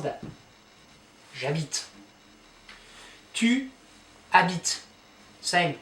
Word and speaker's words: habite: On pronounce this, habitons. Vous habitez, habiter, et, habiter. So it's not habitez, it's habiter, et. And il, elle, habite, habite.